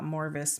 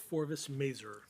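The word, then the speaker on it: Forvis Mazars: the city attorney um who suggested that uh Morvis might how do you say it? Forvis Maser that name might be the better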